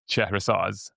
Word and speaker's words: Chehrehsaz: It's in Farsi. It's Iranian last name. Okay. It's pronounced Chehrehsaz.